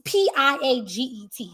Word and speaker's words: Piaget: I pronounce it Piaget. It might be Pi. It's Piaget.